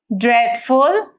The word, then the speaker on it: dreadful: Now here it says in the words dreadful that heavily the combination of the vowel e and a is pronounced like the way the vowel e is pronounced in bed.